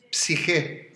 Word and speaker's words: psique: El alma, psique, se dice en griego, divine psiquis, ¿no? Se escribe así como P-S-I-J-E o C-H-E, da igual. Que la G la traducen algunos como CH, pero se pronuncia como J, o como directamente, es